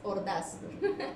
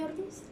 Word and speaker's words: Orduz: Me cuesta la pronunciación del porque voy a decir es Ordaz. No. Bueno, ya regresamos entonces, nos vamos con música y regresamos después de el corte. Yo también soy Orduz.